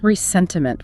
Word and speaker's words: ressentiment: Resentiment, with an R at the end. The French pronunciation.